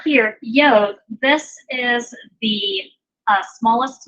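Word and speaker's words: יוד: It's pronounced yod.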